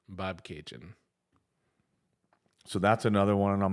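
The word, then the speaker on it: Bobcaygeon: of that song they so they say it's pronounced like bab K Jin Bob Cajun so that's another one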